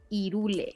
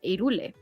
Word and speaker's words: Hyrule: However, the correct pronunciation in Spanish, H, it doesn't have a pronunciation. So in Spanish, it's Hyrule. Hyrule.